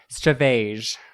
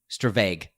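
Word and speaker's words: stravage: one is it and it's spelled weird it's STR a VA GE which looks like stavos but anyway yes - vague to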